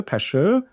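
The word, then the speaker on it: Pashhur: Pashur again you got two syllables. Pash and then her or her. Pashure. Uh Mariah Malijah. So with double letters, okay? You don't change the sound or pronunciation. Pure. Okay. So you're going to say pashure.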